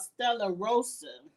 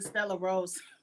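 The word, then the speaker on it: Stella Rosa: shouting them out and i say they name wrong it's called stellar rosa but i just think stellar rose sound better back to the challenge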